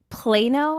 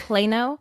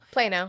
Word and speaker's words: Plano: Texas District 18, Texas Plano. I've been saying it wrong the whole time, so I think it's Plano. Plano.